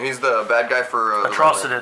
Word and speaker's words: Atrocitus: He's the bad guy for Atrocitus. Atrocitus.